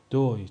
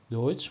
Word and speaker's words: Deutsch: ت اس سه ها دوستان این ترکیب در زبان آلمانی صدای چ میده. صدای چ میده. حالا من این چ رو به انگلیسی زدم براتون. مثل چی دوستان؟ مثل دویچ. دویچ. دویچ. دویچ به معنی آلمانی هستش.